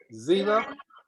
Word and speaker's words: Zeila: Okay, Zila, pronounced but spelled capital Zeila.